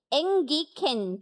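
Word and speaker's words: ἤγγικεν: 자, 가까웠다라는 헬라 원어는 앵기켄이라고 발음을 합니다. ඉතින් මේ ලං වී තිබේය කියන වචනය ග්‍රීක භාෂාවෙන් ගත්තොත් ඒකට කියන්නේ එන්ගිකෙන් කියලා.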